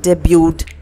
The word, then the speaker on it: debut: இங்கே டி வந்து silent, okay, டீயை நம்ம ப்ரொனவுன்ஸ் பண்ணக்கூடாது. டெபியூ diffuse, okay, டெபியூட், that's how we pronounce this word.